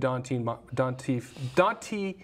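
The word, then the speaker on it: Donte Moncrief: have Dede Westbrook, Keelan Cole, Marquise Lee, and Dante Moncrief.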